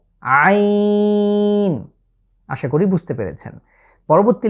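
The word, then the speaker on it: عين: পরবর্তী লেটার হচ্ছে, আপনারা দেখতেই পাচ্ছেন, এর নাম হচ্ছে আইন। আইন। একটু যদি খেয়াল করেন, আমি কিন্তু কণ্ঠের ব্যবহার, অর্থাৎ কণ্ঠের ঠিক মাঝ বরাবর জায়গাটা ব্যবহৃত হচ্ছে, আইন, এবং কণ্ঠের চাপ পড়ছে।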